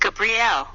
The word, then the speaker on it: Gabriel: behind me and then vibrate Gabriel pronounced Gabrielle three in the South